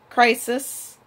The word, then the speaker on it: Chrysis: Like, they introduce Chrysis, that's how you pronounce her name, Agamemnon's war price that, you know, starts the whole plague once Agamemnon refuses to give her back.